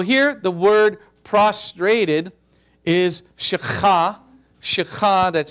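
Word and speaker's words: שחה: tent amen so here the word prostrated is shakha that's spelled s h a c h a h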